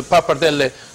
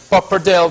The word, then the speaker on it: pappardelle: Bagatelle fettuccine and pappardelle don't pronounce the pappardelle pappardelle because it's wrong okay see you in